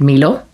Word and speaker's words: Milo: So, anyway, I call it Milo. Everybody in East Africa calls it Milo. Madame here calls it Milo. Because it's spelled M-I-L-O. Milo is a name. If in order for me to say Milo, it'll have to be spelled out as M-E-E-L-O.